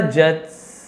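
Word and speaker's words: judge: Never जज someone without knowing the full truth. जज यहां पर डी साइलेंट है।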